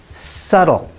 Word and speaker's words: subtle: foreign today's video silent B words the next word is subtle subtle means a very